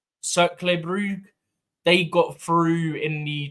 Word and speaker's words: Cercle Brugge: Also, talking of Belgium, in the Conference League, I think it's pronounced Cercle Brugge, they got through in the top 8 of the Conference League as well.